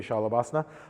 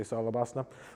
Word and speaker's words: Shalabhasana: So we're going to do 3 different versions of Salabhasana or Shalabhasana, however you want to pronounce it. It would really be Shalabhasana. Lock the legs out. Most yoga teachers around here say Salabhasana.